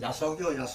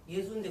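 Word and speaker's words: 耶蘇: 그래 옛날 어른들 야소교 예예예. 예수교는 야소교. 한문 발음이 이제 우리말은 야소거든요. 아. 그런데 중국서 왜 그러면 이랬었느냐? 중국 발음은 예수입니다. 중국 발음으로. 예수인데 그럼 와 야소.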